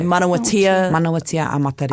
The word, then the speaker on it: Manawatia a Matariki: You would say manawatia a Matariki. A Matariki. Manawatia a Matariki. And I'm pronouncing that right?